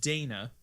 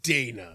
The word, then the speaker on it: Dana: yeast 8 lacrimosa of Dana I'm pronouncing it Dana it's da na and it's a girl's name I don't know if that's correct but that's how we spell Dana that is the most